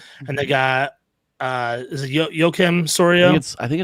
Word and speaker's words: Joakim: They got Jose Barrios from Minnesota, and they got is it Joakim Soria? I think it's Joaquim. Joaquim Soria, thank you. He's been around forever, and I never know learned the pronunciation.